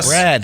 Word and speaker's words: Brad: Think I say Brett, so I have to say Brad like Brad Pit all the time.